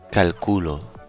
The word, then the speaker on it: calculo: With no accent, this word is pronounced Calculo. but with an accent, it can be Cálculo. or. Cálculo.